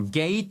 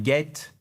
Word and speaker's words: gate: Et c'est pas un get he get non c'est un gate.